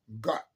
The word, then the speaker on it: Gad: Webster's New Collegiate Dictionary says that the origin of the word God comes from a Germanic word Gad, G-A-D, pronounced as Got, G-O-H-D-T.